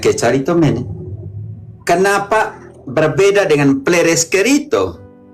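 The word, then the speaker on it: κεχαριτωμένη: Dalam cara bacanya dalam Indonesianya Kecaritomene.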